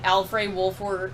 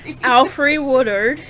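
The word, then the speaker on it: Alfre Woodard: just reading in my head so i never pronounced a lot of it aloud um so you have simone misik is misty knight alfred wolford wolf wolf work wolf order what i can't what aufry woodard thank you i can't read this mariah dillard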